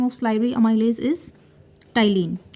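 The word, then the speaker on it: ptyalin: So the carbohydrate can be digested with the help of salivary amylase, and the alternative name of salivary amylase is ptyline. P is silent here, Ptyline.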